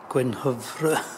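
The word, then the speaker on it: Gwenhwyfar: How do you pronounce it in Welsh? Gwynhyfr.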